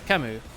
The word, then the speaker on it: Kemu: Kemu, say E as in heck. Kimu. Kemu.